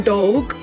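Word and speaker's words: Dogue: quite frequently I hear the term dog which is spelled D O G U E or D O E G.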